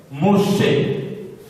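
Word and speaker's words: משה: Et en hébreu, Moïse s'écrit de cette manière. Moshe, Moshe, Moshe.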